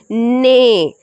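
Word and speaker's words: neigh: ने 8 की स्पेलिंग है जैसी है, पर N सामने आ रहा है 8 की स्पेलिंग में, पर T भी नहीं है।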